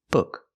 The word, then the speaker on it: book: table book a table the word is pronounced book book not book don't use the long ooh like food Use the short uh like look and good look good book this is the correct